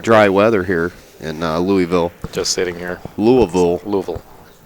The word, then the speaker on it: Louisville: Louisville there are only there are only one and a half syllables in Louisville Kentucky Well Louisville yeah one and a half if you if you go for the one and a half you're okay if you leak into two syllables but uh certainly not three wow although some people